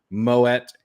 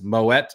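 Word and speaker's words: Moët: lvmh or Louis Vuitton Moet Hennessy and yes Moet is the right way to say that I looked it up uh if anyone thinks it's pronounced Mo uh like you're French you are wrong um but lvmh which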